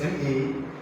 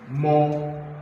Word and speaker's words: ma: This is MA, but the full spelling is MAW. Mo, not ma.